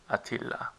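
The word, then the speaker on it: Attila: Turkish this name is spelled with two two T's and one L but instead pronounced with one t and Double L so we write ATA but we pronounce Atilla I don't know why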